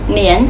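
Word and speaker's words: 粘: Chữ này vừa có một âm đọc là chan, vừa có một âm đọc là nén. Ở đây chúng ta đọc là nén các bạn nhé.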